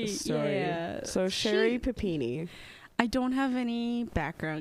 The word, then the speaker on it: Papini: It's Papini, right?